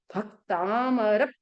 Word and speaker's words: भक्तामर: भक्तामर प्रणत मौलिमणि प्रभाणा, जो आधा अक्षर आया है उसके पहले वाले अक्षर पर प्रेशर देना। आप बोलोगे भक्तामर प्रणत मौलिमणि प्रभाणा, ये क्या आपका शुद्ध है या अशुद्ध उच्चारण? मेरा शुद्ध उच्चारण कब होगा, जब मैं भ पे प्रेशर दूंगी।